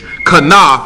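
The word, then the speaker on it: חנף: You spell it C-H-A-N-E-P-H. Kanaf is how you pronounce it.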